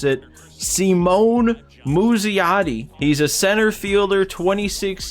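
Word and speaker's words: Simon Muzziotti: We have a fast track player lock to play with, I looked up how to pronounce it, Simone Muzziotti.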